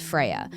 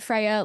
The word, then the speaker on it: Freya: Freya, am I pronouncing Freya, that? yeah. Amazing. Is it Freya like after the Norse god?